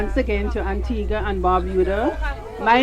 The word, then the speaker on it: Antigua: you heard both pronunciations Antigua is the Spanish pronunciation because of the whole Columbus thing and in Spanish Antigua means ancient but we were colonized by the British in 1632 so it's pronounced Antigua so now we're going